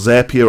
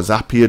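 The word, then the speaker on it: Zapier: there's also a thing called zapia or zapia depending on how you say it and that allows you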